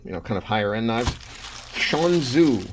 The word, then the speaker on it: Shan Zu: Shanzu, I think is how you say it, Shanzu.